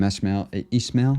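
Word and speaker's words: Esmail: um but allegedly the Sam ishmail I think is how you say his name said that Obama really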